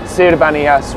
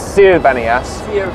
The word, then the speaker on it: Sir Bani Yas: on my face basically apparently everyone pronounces sir Banas wrong it's not sir Banas that's what I've been saying yeah that's what everyone says it's s Banas and apparently SE means to come from the sea or like desert so